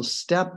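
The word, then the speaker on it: steppe: from a step bison so step there noticed it's spelled St PP that means basically this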